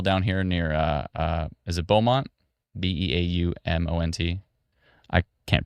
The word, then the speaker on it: Beaumont: There's maybe some hail down here near, is it Beaumont? Beaumont. I can't pronounce anything properly, but. Yeah, that's correct. Beaumont, thank you.